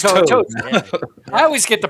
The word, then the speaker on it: Toad: So yeah, It's Toad. yeah. I always get the pronunciation wrong on shit. Everybody but- thinks my name is Todd, which it is not. I've been Toad for a long time.